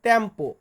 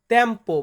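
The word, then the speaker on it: tempo: মানে ইতালিয়ান লেখা তো লিখেই দিব পাশাপাশি বাংলা উচ্চারণ লিখে দিব প্রথম শব্দটি রেখেছি সময় সময় বা টাইম এটাকে ইতালিতে বলা হয় তেম্পো তেম্পো মানে হচ্ছে সময় এর পরবর্তী শব্দটি আছে আজ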